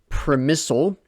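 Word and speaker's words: Przemyśl: on going to be using the pronunciation premisal which seems to be the German pronunciation uh which is a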